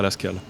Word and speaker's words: Lasskahl: En gros, on voulait un nom qui se prononce pareil dans toutes les langues. Et le truc, c'est que là, tu as mis quelques accents, mais en somme, peu importe d'où tu viens, Lascal, tu le prononceras Lascal. Donc on a inventé ce mot et pour que ça se prononce parfaitement partout.